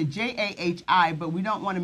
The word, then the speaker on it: Jahi: So I'm 14, and my name is pronounced Jahi.